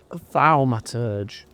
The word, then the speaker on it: Thaumaturge: Thalmaturge.